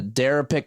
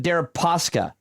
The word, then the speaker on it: Deripaska: Their speaker, I think his name is I can't pronounce his name. Sorry. Darapik Kalimnik. Darapisk Kalimnik. Kalimnik? No. Kalimnik is the intelligence agent. The oligarch is named Oleg. Oleg Deripaska.